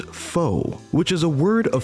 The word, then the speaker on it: Faux: I'm Fox. At this point, we must pause for a brief moment as we make a minor correction. The name of the character currently on screen is pronounced faux, which is a word of French origin dating